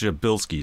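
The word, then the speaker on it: Przybylski: this star is called your Bilski star habilities and is not spelled how it's pronounced nothing like it it's a Polish surname and this can always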